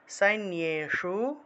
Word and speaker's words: সৈন্যেষু: তারপর হলো ৫২, চচার, চচারাসুর সৈন্যেষু, সৈন্যে, জফলা থাকায় নিয় উচ্চারণ, সৈন্যেষু বনে, বনেষ্ব, বনেষ্বী, মূর্ধন্যস্ব